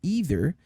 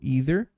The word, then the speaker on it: either: Mas, normalmente, utilizamos o either ou either. Depende, tem região que pronuncia de um jeito e tem região que pronuncia do outro.